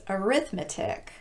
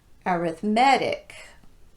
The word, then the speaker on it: arithmetic: rhetoric turmeric and arithmetic that last word has both a noun and an adjective form the noun form is arithmetic but the adjective form follows our established pattern arithmetic okay now that we've